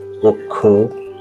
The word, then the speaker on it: অক্ষ: কোন শব্দের শুরুতে বা আদিতে যদি অ স্বাধীনভাবে থাকে অথবা ব্যঞ্জন ধ্বনির সঙ্গে যুক্ত অবস্থায় থাকে এবং পরবর্তী বর্ণ যদি ষি বা যুক্ত খ হয় তাহলে পূর্ববর্তী অ এর উচ্চারণ সংবৃত হবে অর্থাৎ ও এর মত হবে সম্মানিত সুধী যেই শব্দগুলো